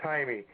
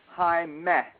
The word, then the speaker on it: Jaime: It's pronounced Jaime. It's pronounced the way it's pronounced. You would think it would be spelled Hymeh.